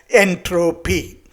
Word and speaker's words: entropy: to call as entropy he coined this term in a way it rhymes with energy and he wanted to have a Greek root for it so that it can be adopted in all languages the root is entropia